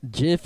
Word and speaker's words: gif: who called him a jiff non ironically well jiff is actually the correct pronunciation if you search for it on the